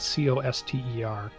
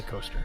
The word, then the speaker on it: Coster: the lion Shield coaster they spell it co s t e r Coster coaster I'm going say coaster probably both yeah um before we